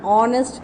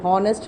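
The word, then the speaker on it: honest: अब देखो दिया ध्यान से, इसमें सब में Apple, Apple, an apple, egg, एन एग, ऑनेस्ट मैन, ऑनेस्ट है, ये हॉनेस्ट नहीं होता, ऑनेस्ट है, एन ऑनेस्ट मैन, आर, एन आर।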